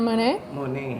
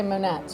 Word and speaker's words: Moinet: yeah you said yeah you said it right most people say monettes or i don't know it's french dumb americans some americans don't know anything yes french like the painter right okay so um